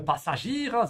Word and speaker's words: Passagier: Yeah, it looks like passenger, but it's pronounced quite differently.